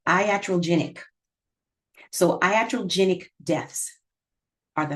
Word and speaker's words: iatrogenic: It is pronounced iatrogenic.